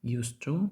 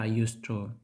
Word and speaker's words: used to: have really Short Hair Ми прибираємо букву D але вимова us to та us to однакова did you use to